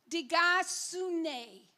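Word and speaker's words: δικαιοσύνη: I looked up the Greek word, and bear with me if I pronounce it incorrectly, but I wanted to know what righteousness is. And the pronunciation is digasune, Greek word.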